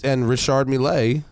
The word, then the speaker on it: Richard Mille: And Richard Mille, which is the correct pronunciation, says, fuck all that.